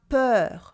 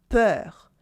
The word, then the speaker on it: peur: Then we always pronounce it open like heure. Like le coiffeur, the hairdresser. Le coiffeur. La peur for fear. La peur. And also le bonheur for happiness. Le bonheur.